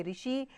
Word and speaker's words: ऋषि: र की मात्रा का उच्चारण री की तरह ही होता है, जैसे ऋषि, ऋषभ, कृपा आदि।